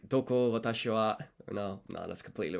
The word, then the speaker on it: は: I'm gonna guess that this is the wa particle and not ha. So それはいくらですか? いくらですか? Let's take a quick look at the romaji. いくらですか? Okay, so I was right about this being wa.